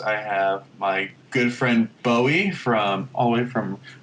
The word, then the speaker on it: Boey: Today's guest, I have my good friend Boey from all the way from Kuala Lumpur.